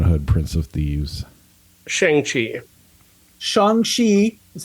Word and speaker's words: Shang-Chi: Shang-Chi is how you say it, first of all.